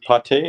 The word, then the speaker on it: PATE: the second one dp pate is pronounced probably right yeah like the french liver pate makes sense the north